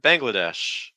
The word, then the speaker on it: Bangladesh: Bangladesh Bangladesh um hos watch out for that n that NG sounds like bang Bangla so it's almost like an NG um followed by like a g sound it's like bang bang so you want